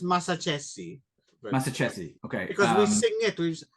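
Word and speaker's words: Massaccesi: I know it's Mazacchese.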